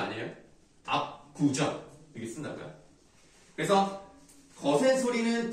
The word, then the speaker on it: 압구정: 자, 압구정은 체언이기 때문이 아니라 그냥 무조건 발음상 우리 된소리 되게 되잖아요. 그런데 원래가 된소리가 아니고 발음이 음운의 변동을 일으켜서 된소리가 되는 경우는 반영하지 않는다는 얘기예요.